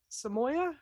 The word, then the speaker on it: Samoiya: As always, Samoya, am I saying it correctly?